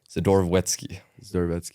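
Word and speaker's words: Zdorovetskiy: say it for the viewers at DKI sedor sedor wety zetki you got to roll the tong zetki but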